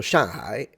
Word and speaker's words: Shanghai: Like he said, like, do not pronounce the G because it's used to nasalize the N. So you say shang, which means above, and then hai means sea. So Shanghai is literally above the sea.